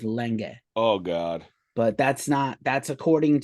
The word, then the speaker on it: Lange: Well, he started spelling it Lang, but also like he's a German guy who's as a child moved to Australia, so the pronunciation is Lenge.